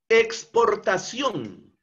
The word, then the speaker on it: exportación: Exportación. Exportación. Palabra aguda, porque la sílaba tónica se encuentra en la última sílaba, ción.